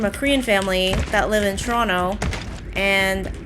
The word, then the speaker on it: Toronto: You don't pronounce the second T. It's like Toronto.